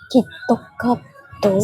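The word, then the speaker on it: キットカット: So kalau yang famous macam, how do you say Kit Kat in Japanese? Kitokato. So in Kit Kat in Japanese is kitokato.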